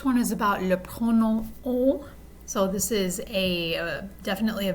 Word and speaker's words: on: itself as a pronoun, it's pronounced o. So the sound of the vowel is like o, but you're sending all that air and all those vibrations through your nose.